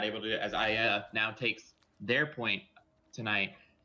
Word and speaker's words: AYAYA: And to answer Kazume's question about how you pronounce AYAYA, it is AYAYA. You normally want to do it with a higher pitch voice, but my voice is dying tonight, so I can't really do the higher pitch.